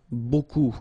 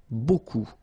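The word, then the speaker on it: beaucoup: looks a bit strange Buu like that remember you don't pronounce the final P okay and then you get this combination of vowels uh and you get the sound o so technically it's okay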